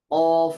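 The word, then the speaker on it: ق: আকসার লিসান, জিহ্বার গোড়া একেবারে শেষ থেকে অফ উচ্চারিত হয়। জিহ্বার গোড়া একটু উপরের দিকে উঠিয়ে, জিহ্বার গোড়াটা উপরের দিকে উঠিয়ে উচ্চারিত হবে অফ।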